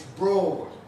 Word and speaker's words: broad: Is it broad like road? No, it's not. It's broad. It has the same vowel as fought.